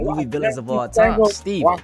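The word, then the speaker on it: Stephen: villains of all time, Steven. But throughout this video, I call him Stephon because it's spelled Stephon, but that don't matter, y'all. Tomato, tomato, same thing.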